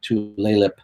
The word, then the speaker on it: Tulalip: I can never pronounce the name right. It's like Tulalip Casino.